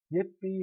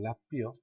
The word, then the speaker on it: 라삐: 라삐라고 이야기하죠. 예삐 아니고 라삐요.